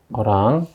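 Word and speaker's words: Erlang: 20개의 중계선으로 OERL 이렇게 되어 있는데, 이 ERL은 어랑이라고 읽으시면 돼요. 어랑.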